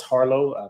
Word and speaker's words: Harleaux: You can find me on Facebook at Carlos Harlow. My last name is spelled Harleaux.